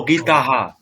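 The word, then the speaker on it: गीताः: বহু- মানে ও গীতাহা, হ্যাঁ ঠিক। হ্যাঁ, শ্রাবণী ম্যাডাম বলুন কি বলছেন? না স্যার ওটাই বলছি হ্যাঁ লতা বলুন বলুন বলুন। লতা সীতা গীতা হা গীতাহা, গীতা একদম কম্প্রোমাইজ করবেন না উচ্চারণে, গীতাহা।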